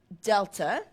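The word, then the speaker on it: Δ: great sense number one that triangle is pronounced Delta and it means change in okay so that's what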